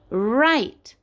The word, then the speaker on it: write: It is new because in this the letter W is quiet. It is silent. We don't say R, we say Like in write.